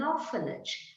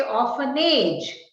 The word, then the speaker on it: orphanage: children without parents is an orphanage remember you don't say homage you don't say often age going back to speech